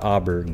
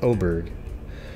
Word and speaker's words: Oberg: The, this case on Daniel Oberg, I guess that's how you pronounce it, it's not Auberg, but Oberg, I did a live